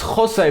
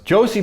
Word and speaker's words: Jose: Next up is Jose Baxter. I don't think I'm supposed to say it like that since this guy is English, but Josie Baxter was Everton's youngest